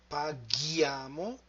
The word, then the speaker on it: paghiamo: Lui paga, lei paga, and then we come to noi, and noi paghiamo. In order to have the sound g, we have to insert H.